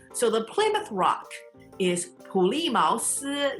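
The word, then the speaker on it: 普利茅斯: We translate the word Plymouth, which is 普利茅斯. 普利茅斯. So third tone, fourth tone, second tone, first tone.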